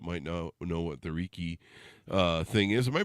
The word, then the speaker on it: Reiki: the audience that might know know what the Riki uh thing is am I pronouncing that right too it's pronounced Reiki like a see that's why you're the professional